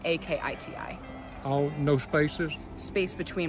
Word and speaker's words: Akiti: so it's my name last name a-k-i-t-i oh no spaces space between my first and